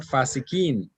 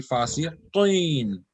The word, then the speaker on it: fasiqin: will be qi, not fasikin. It will be fasiqin, qin, qin. So that sound has to come from the most behind part. Then only that qaf will be pronounced properly.